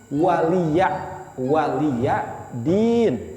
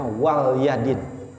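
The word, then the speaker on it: وَلِيَ دِينِ: Tapi kalau orang enggak memperhatikan surat Al-Kafirun, itu bacanya wal yadin. Itu salah. Artinya salah.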